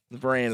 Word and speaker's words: Varan: Varan is what it is.